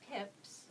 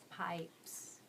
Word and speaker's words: pipes: Okay, the silent E makes that I say I. So change the if to I. So say pips. Say pips. Now change the if to I. Pipes.